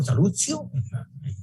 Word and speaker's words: Salustio: O Salustio, la pronunciación correcta en latín, y dice que de